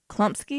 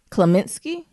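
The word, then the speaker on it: Kominsky: It's called the Klumpsky. Am I saying that right? Kaminsky. Can we spell that?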